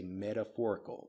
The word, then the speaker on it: metaphorical: Again, the pronunciation of this, we don't say metaphorical, at least not in American English. We say medaphorical. The ‘t’ becomes more of a ‘d’ sound.